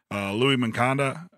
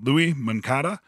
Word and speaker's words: Luis Moncada: But yeah, man, it's been a great couple of weeks for Better Call Saul and Turkus, Louis Moncada, See, I mispronounced it again. Louis Moncada.